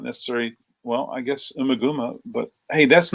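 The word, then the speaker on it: Ummagumma: Boomaguma? That's a good one, but that's a good title. I love hearing people pronounce it, but so I would think of that more as a mispronunciation rather than, yeah.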